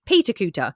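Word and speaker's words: Peterculter: Then Cooter itself is actually Peter Cooter. So that's its proper name, is Peter Cooter, but they call it Cooter for short.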